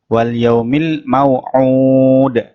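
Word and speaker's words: وَالْيَوْمِ الْمَوْعُودِ: diperhatikan pada at yang kedua ini wal yaumil mau out airnya dibaca panjang dua ayunan dan di akhir ayat dibaca qalqalah artinya dipantulkan seperti air yang pertama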